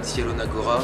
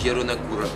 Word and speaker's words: Zielona Góra: C'est pas Zielona Góra, c'est Zielona Góra. Mais comme je suis français, on va dire Zielona Góra, parce que c'est moins chiant.